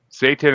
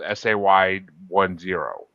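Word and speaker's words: SAY10: Satan is a fun song and cuz he's saying like Yeah, it's spelled s a y10. So he's literally saying say 10, but you know what he's doing.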